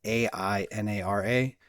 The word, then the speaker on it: Ainara: That said, I'm proud to share with you today a project called Ainara. That's spelled A-I-N-A-R-A, pronounced Ainara.